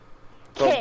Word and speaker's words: Togake: Togake. Ki- Toe. These geckos. Yes. Toe. Toe, like your big toe. Ga, Ga- as in Lady Gaga. Togake. K, as in Kaylee.